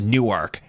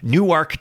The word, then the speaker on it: Newark: way first of all it's definitely pronounced Newark for cry cing out loud new arc Dela Delaware I'm just it